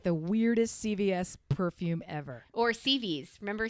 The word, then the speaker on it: CVS: And they said, "What do you mean you checked CVs? Where's CVs? Oh, no, it's on the corner of Peachtree and blah blah blah. Spell that for me. CVS. Oh, honey, that's not CVs. That's CVS. Oh my God, CVs.